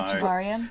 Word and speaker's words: Echevarria: Renee, and I'm going to ask you to pronounce his name. So Echevarria.